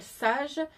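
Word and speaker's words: Saje: c'est le le patron qui s'appelle sage mais qui s'écrit S a j e donc c'est un body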